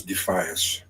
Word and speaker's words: Defias: Proper pronunciation is Defias. Because they are defying those who command them.